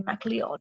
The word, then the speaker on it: MacLeod: name, which is actually MacLeod. It's actually how it is spelled, just typed it up there. But his kind of nickname was Cloud because it sounds like cloud, MacLeod.